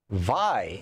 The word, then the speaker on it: Vi: Vi in Doniphan, Missouri.